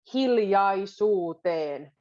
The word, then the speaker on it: hiljaisuuteen: Toisillemme hiljaisuuteen. That's the word that we go a little backwards. Hiljaisuuteen. So it kind of goes into your chest.